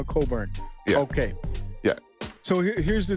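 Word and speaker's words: Cockburn: I don't want to I don't want to say his name the way it's spelled oh spelled c c k b RN and his name is somehow Coburn okay yeah so here's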